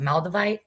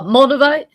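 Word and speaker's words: Moldavite: Maldivite. Maldinite. I never say it right. Uh, mulivite. Mulivite. Yeah, that's what I got. Is that um Did you get all that, Steve? Moldivite.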